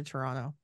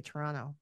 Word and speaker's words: Toronto: flight from here to Toronto oh and that's how you say it you say Toronto you just kind of like slur it all together that's how it toron Toronto toron Toronto oh